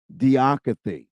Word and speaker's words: Didache: Or you can type in diacathy. Diacathy is spelled Didache.